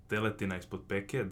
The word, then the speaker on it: teletina ispod peke: It's something called teletina ispod peke. That's the Croatian pronunciation, but basically it's veal, prepared in a certain type of Croatian way.